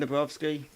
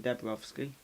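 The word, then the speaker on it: Dabrowski: i said it wrong it's kevin dubrovsky not kevin debrowski there we go uh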